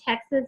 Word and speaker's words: TEKS: They call their standards the Texas Essential Knowledge and Skills. Some people say TEX, some people say TEKS. I say TEX because phonetically that makes more sense to me.